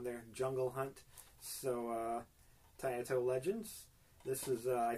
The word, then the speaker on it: Taito: the title legends i i think it's pronounced tayato i i've heard it pronounced tayeto it's t-a-i-t-o but anyway they're the